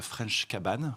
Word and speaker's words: Fraîche Cabane: qui s'appelle donc la fraîche cabane on le prononce à la française l'américaine a pas de problème donc la french cabane